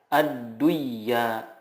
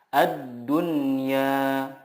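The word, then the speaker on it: الدنيا: mutlak Hai contohnya Hai ad-dunya tidak dibaca Aduh iya tetapi yang benar adalah a dunia Bun ya Nun print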